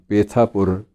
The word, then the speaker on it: पेठापुर: सादे हुए एक गांव पेठापुर पेठापुर कुछ लोग उसको पेठा पूर्वी कहते हैं गुजराती उच्चारण की वजह से कहते हैं वहां के निवासी द